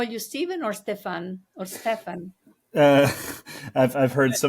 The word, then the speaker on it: Stéphane: Stefan is typically the way I go, but you can go with whatever. So with the French pronunciation, lovely.